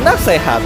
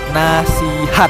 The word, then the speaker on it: nasihat: yang kedua nasihat atau nasehat nah tahu kasih kalau kata ini itu merupakan kata serapan dari bahasa Arab guys nah yang bener yang mana yang benar adalah nasihat hai kenapa guys karena dalam pelafalannya harus disesuaikan dengan bahasa Indonesia itu sendiri guys maka dari itu penulisan huruf vokal yang benar itu menggunakan huruf i nanti sihat dia ketiga